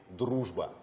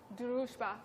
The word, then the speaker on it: дружба: because that Russian sound is really hard to pronounce, pick the right? most difficult. Okay, the friendship is дружба. Дружба.